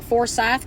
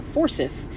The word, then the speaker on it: Forsyth: For the first year that I moved to Georgia, I was pronouncing Forsyth County, Georgia, as Forsyth, because it's Forsyth, and I'm like, oh yeah, Forsyth.